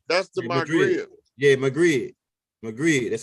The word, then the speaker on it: Maghreb: Yeah, Maghreb, that's how you say it.